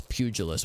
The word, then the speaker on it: pugilist: person who punches good maybe it's pugilist with a soft g the thing is there's